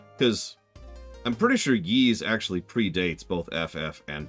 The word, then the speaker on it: Ys: Yeah, YS is how it's spelled.